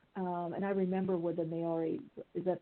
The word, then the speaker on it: Maori: And I remember with the Maori, is that how pronounced it? Maori elders and healers.